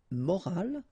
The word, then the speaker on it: morale: but in that case you get this at the end, which is silent, so you don't pronounce it. So clearly it is the same pronunciation for the two words, but then in that case it's feminine, une morale, okay?